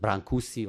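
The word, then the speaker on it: Brâncuși: Some of you, since I mentioned the Romanian geniuses, so many of you are familiar with Brancusi or Brâncuș, whatever you want to pronounce.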